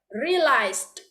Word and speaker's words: realized: Oke, realized. Relax. Like this, yeah. Relax. Yeah. Relax. Gini, realized. Setelah di belakangnya itu lidahnya itu naik ke atas, realized.